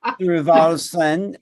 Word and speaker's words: Thorvaldsen: say your last name linvalson which is norwegian and um she is